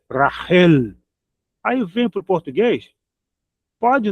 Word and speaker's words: Rachel: Eles falam racial, rachel, Rachel, né? Eles pronunciam o ch como como no do modo inglês que é t, né? Eh, t eles pronunciam assim. E e pro português é ch mesmo, né?